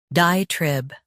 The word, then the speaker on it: diatribe: shown on the screen, diatribe. Both US and UK have the same pronunciation of this word, diatribe. Now read the syllables shown on the screen naturally. Trib, diatribe. Stress die and keep trib clear.